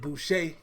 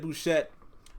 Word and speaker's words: Bouchette: guys feel about Ed Boucher or Bouchette. See, there you go again. I don't know how these names are pronounced, but I believe it's Ed Bouchette.